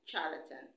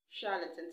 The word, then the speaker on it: charlatan: chauvinist chauvinist chauvinist and charlatan charlatan not charlatan charlatan so let me go